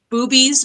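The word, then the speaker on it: Bube's: Dark drafts and it's at boobies Brewery and I'm not joking that's how you say it so it's going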